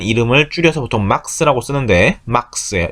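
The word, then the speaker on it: Max: 막시밀리안이라는 이름을 줄여서 보통 막스라고 쓰는데 막스예요. 이름이 맥스 아닙니다. 막스입니다. 독일어기 때문에.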